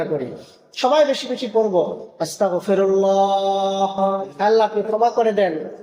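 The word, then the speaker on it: أستغفر الله: সকলে বলেন আস্তাগফিরুল্লাহ। আমার উচ্চারণটা আপনারা খেয়াল করেন। আস্তাগফিরুল্লাহ।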